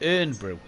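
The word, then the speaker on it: Irn-Bru: it but he says it's technically not iron because there's no o in the word which a fair argument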